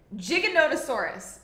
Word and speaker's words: Giganotosaurus: terrifying and I believe the correct the correct pronunciation for it we googled it before this Andre and I it is wait Giganotosaurus Giganotosaurus but we're just going to call it